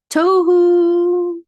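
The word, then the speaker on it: תֹהוּ: But because the accent mark is supposed to be on the first syllable, not the last syllable, we actually have two pashtas.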